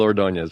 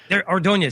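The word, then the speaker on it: Ordóñez: e z79 yeah Gil ordones okay ordones see I just didn't know how to pronounce the last name and I knew I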